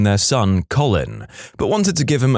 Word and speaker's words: Colin: Conversely, I went to high school with a kid named Colin, and our physics teacher constantly pronounced it colon.